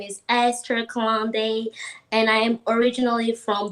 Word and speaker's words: Kalande: Kalande.